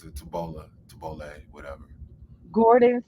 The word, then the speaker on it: tabbouleh: Tabbouleh. Thank That's you. how you pronounce it. Tabbouleh, whatever.